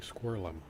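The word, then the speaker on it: Screwllum: That's how you say his name, Squirrelum.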